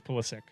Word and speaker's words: Pulisic: soccer player christian pulisic i love it it's pulisic no megan ballistic is wrong jordan pickford he wants to pronounce police weston mckinney he's politics right it's